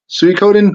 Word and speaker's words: Suikoden: Suikoden 2. Oh, Very nice. Oh, and you pronounced it correctly.